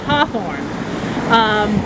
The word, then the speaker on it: Hawthorne: the New England accent the family name hheh orn he is naturally pronounced Hawthorne but when he started